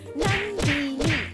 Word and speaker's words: Nandini: Not Nandini, Nandini, Nandini. Hello, I see you all always getting my name wrong in the comment section. It's Nandini. Ah, look at the spelling.